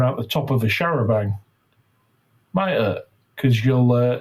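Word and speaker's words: charabanc: H A R A B A N C pronounced Uh, Sharabang. Ah, Sharabang. Okay. Yeah. So, yeah, it's an open top bus, I believe. Uh, anyway, that same year about a Sharabang full of tourists traveling along the B3212.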